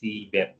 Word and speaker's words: CBAP: There is typo in this text. Last one is CBAP, CBAP. That's how it is being pronounced.